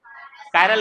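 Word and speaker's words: chiral: ये है मेरा चिरल कार्बन क्या कायरल ना यस सर ठीक है बट इसको पढ़ो तो लिख तो चिरल रहे हैं ठीक है लिखते चिरल है बट इसका प्रोनाउंसिएशन क्या होता है कायरल तो ये कायरल कार्बन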